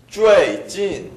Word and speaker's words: 最近: 높은 데서 시작해야 사성이 납니다.